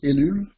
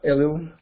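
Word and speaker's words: Ellul: writer his name is ilu not elio because he's french and that's why it's pronounced he is one of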